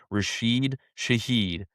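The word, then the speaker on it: Rashid Shaheed: Rasheed Shahed. There we go. That's probably the first time in my life I pronounce it right, but we go out and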